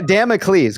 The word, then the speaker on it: Damocles: Just get the pronunciation right. Oh, okay. Damocles.